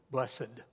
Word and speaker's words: blessed: I don't know why we make that a two-syllable word, blessed. Blessed are the pure in heart, or if you will, literally, happy are the holy.